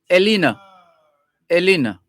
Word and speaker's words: Elene: for short, Elene, ELENE, which has a few pronunciations depending on the language. If it's Greek, if the person is Greek, you would say Elena. If the person is French, then you'd have a grave accent over the second E,